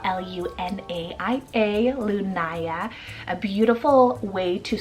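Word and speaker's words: Lunaia: One that I kind of made up here is Lunaya, spelled L-U-N-A-I-A, Lunaya. A beautiful way to spell it, but there's multiple other ways that you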